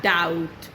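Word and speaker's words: doubt: गलत है, it's date, या डाउट, बी रहता है साइलेंट।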